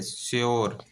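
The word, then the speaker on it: sure: जैसे श्योर, देखिए यू के बाद RE आ रहा है, ठीक है, तो यहाँ यो का उच्चारण हुआ श्योर।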